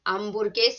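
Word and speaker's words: hamburguesa: a hamburger is an ambergeist but remember that h is silent repeated him repeating that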